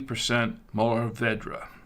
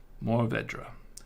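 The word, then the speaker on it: Mourvèdre: 33 Surah and 33 molavedra more Vedra it's actually pronouncedra that's a Vedra that's how they pronounce in France I know because I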